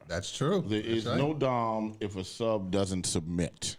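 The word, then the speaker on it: domme: all the power that's true there is no dom if a sub doesn't submit absolutely so that's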